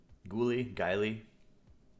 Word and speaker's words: Guile: And then this Outlaw Rogue, Guiley. How do we pronounce this? Guile. All right. So Like the Street Fighter character, Guile?